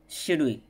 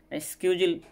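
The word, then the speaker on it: schedule: আরেকটা হচ্ছে গিয়ে আমরা অনেকেই কনফিউজ পড়ে যাই, এটা উচ্চারণ কি হবে, কোনটা সঠিক কোনটা ভুল। সেই ওয়ার্ডটা হচ্ছে গিয়ে শিডিউল। অনেকে মনে করে শিডিউল এটা সঠিক, স্কিউজুল এইটা সঠিক।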